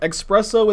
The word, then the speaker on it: espresso: we look this up expresso is a valid way to pronounce it yes you look nice